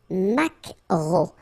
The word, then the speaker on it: maquereau: la truite, le maquereau, so technically this K, just pronounce it K, mac, maquereau, maquereau, alright, and then E, A, U, remember when you combine these three vowels, you get the sound O, maquereau, okay, and then la